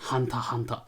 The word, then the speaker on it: Hunter x Hunter: Juste avant que je te laisse continuer, je précise qu'on sait bien que ça se prononce Hanta Hanta. Mais personne dit ça. Mais en fait, on en a rien à foutre, on a toujours prononcé ça Hunter x Hunter.